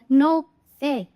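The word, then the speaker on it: Noël: Join होकर आए हैं, जैसे कि हमने यहाँ देखा नो ए, नो ए which means Christmas, तो मेरे को ओ और ई दोनों को प्रोनाउंस कर ले, दोनों की आवाज निकालनी है, सिर्फ फर्स्ट वॉवल की नहीं।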